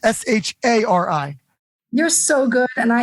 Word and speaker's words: Shari: Because it's S-H-A-R-I. You're so good. And I have to correct people so often because they'll say and I'll say it's Shari.